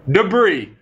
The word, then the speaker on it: debris: pieces everywhere are all the loose pieces everywhere debris guys debris D EBR r i s debris